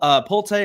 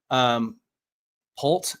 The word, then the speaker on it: Pulte: So this is Bill Pulte, and I apologize that I am not pronouncing his name correctly. Polt, that's what it is. It's Bill Polt.